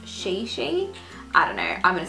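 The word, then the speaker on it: Chichi: how it was like it's not pronounced Chi-Chi it's pronounced sheii I don't know I'm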